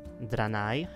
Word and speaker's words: Draenei: se jmenuje Draenei, ano, tohle je správná výslovnost, Draenei, a i přesto, že spousta lidí to vyslovuje jako Draenei, což jsem tak vyslovoval i já, a dokonce to bylo i ve hře, tak Blizzard změnil tuhle výslovnost a ve jakémkoliv novějším zdroji uslyšíte Draenei jako Draenei.